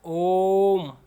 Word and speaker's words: ओम: लिखते है ठीक है यह देखिए यहां पर थोड़ा इसको हम उच्चारण करते समय थोड़ा टाइम ले रहे हैं ओम इस तरीके से यहां